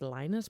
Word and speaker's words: Lynott: a relative or maybe the daughter of Phil Lynott actually said on the Daily Mirror once that it's pronounced Linus, but I can't do it. We've been Mandela effect. We've been Lynott affected.